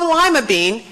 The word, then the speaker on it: Lima: many kinds of beans so when you have lima bean remember it was supposed to be pronounced lima bean lima capital Peru that should remind you where that mean is from this is the great